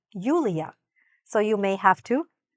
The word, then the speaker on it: Yulia: Or they might be familiar with Julia, but not Julia.